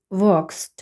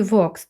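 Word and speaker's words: walk: звук е Hey Kate Vos toby Everyday так в слові vo теж Ми бачимо що a стоїть у сполученні a l k l не вимовляється тому е прочитується о подовжене vo Every в слові Every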